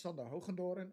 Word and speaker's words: Hoogendoorn: Uh so yes, my name is Sokondoran in Dutch. Nobody else knows how to pronounce it outside of the Dutch people, but that's fine.